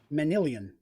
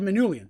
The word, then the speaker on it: Manilian: Saying Manilian. I was close. I had Manulian. So theirs is an I sound instead of a U.